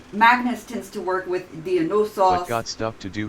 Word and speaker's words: Dionysos: So Dionysos, the Y when transliterated into English is actually usually the Greek umlaut. No, not umlaut. It's upsilon, which makes more of a U sound.